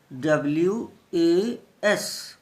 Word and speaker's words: was: अब ध्यान दीजिए दोस्तों, एक छोटा सा शब्द WAS, दोबारा से सुनिएगा, WAS। इसको कई बच्चे मैंने देखा इसको वाज बोलते हैं, वाज, वाज मीन्स था, लेकिन ध्यान दीजिए ये वाज नहीं है।